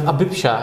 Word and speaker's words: Abhipsha: of sorts we have abisha is how you say that it means desire which